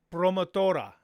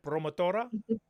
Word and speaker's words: promotora: She is the promotora. I'm going to say it right. Promotora. Promotora. Promotora, the promotora.